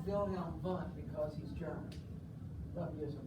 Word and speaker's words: Wilhelm Wundt: And it's pronounced Wilhelm Wundt because he's German.